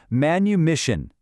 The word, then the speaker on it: manumission: The word is manumission.